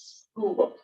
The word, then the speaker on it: scuba: demands underwater breeding apparatus we don't sit there and say it like that we don't call it scuda we call it scuba nato is another one